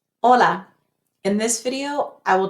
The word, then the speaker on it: hola: Too many students say it like this, hola. They move their lips, hola. I'm exaggerating a little bit, but to make it sound in Spanish, we want to say, cut off that O short, hola. See how I didn't have to move my lips at all to make the O sound?